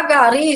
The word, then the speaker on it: gari: Porque a palavra tônica, a sílaba tônica de gari, não é o ga, tá? É o ri.